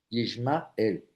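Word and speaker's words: ישמעאל: Yishma. Él. Los nombres en la Biblia muchas veces expresan un mensaje. Cada vez que Agar pronunciara el nombre de su hijo, recordaría que Dios había escuchado su clamor.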